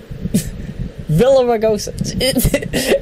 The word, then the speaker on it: Villaraigosa: it does a tongue twister villag erosive sorry Villaraigosa I got my G's in my arse mixed